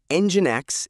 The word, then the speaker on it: NGINX: First things first, Engine X is pronounced EngineX.